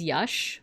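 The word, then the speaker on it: Yax: This is yash.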